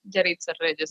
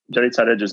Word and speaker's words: Yaritza Reyes: So Yaritza's website is Yaritza Reyes.